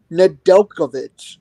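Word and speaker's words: Nedeljković: Nedel, Nedeljkovic, I think is how you pronounce it.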